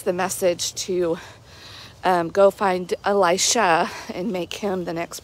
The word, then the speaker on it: Elisha: when Elijah is told to go and make Elisha the next prophet. And I've heard some people pronounce that name Elisha, but I've also heard it pronounced Elisha.